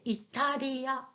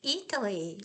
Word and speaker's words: Italy: italy right italy yes we say italia italia we have to say italy italy italy yes yes um and